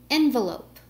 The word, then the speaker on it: envelope: stress is which syllable for envelope the first syllable is stressed for envelop the second